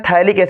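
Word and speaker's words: phthalic: इसको क्या कहते हैं थैलिक्स इड पी साइलेंट है अगर c डबल ब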